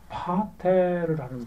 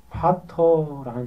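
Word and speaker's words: πατήρ: 예수님께서 기도를 가르쳐 주실 때 제일 처음에 뭔 단어를 가르쳤냐면 파테르라는 단어, 파터라는 단어. 뒤에 맨 마지막 단어가 그 R 발음으로 번역되는 거기 때문에 파테를 해도 되고 파터라고 해도 됩니다.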